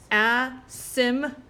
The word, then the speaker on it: asymptote: Asymptote. All right. So this is how you say this word. Asymptote. The P is silent.